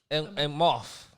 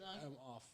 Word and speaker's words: Emhoff: Emhoff. Doug Emhoff. Yeah, just the H is silent. So just say I'm off.